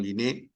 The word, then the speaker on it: Linné: Carbon Linneo, o Carbon Linné, como quiera pronunciarlo en francés o en castellano, Carbon Linneo, es considerado el padre de la taxonomía.